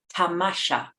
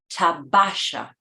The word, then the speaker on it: tamasha: We learn from Baha'u'llah's tablets that Hussein Effendi could not properly pronounce the Persian word for sightseeing, tamasha, instead saying tabasha, a word that doesn't exist in Persian and doesn't passes away.